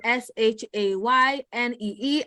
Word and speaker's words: Shanae: That is Shaynee, accent on the first E.